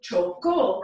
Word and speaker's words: chocó: And it's spelled C-H-O-C-O with an accent mark on it. So chocó is the preterite.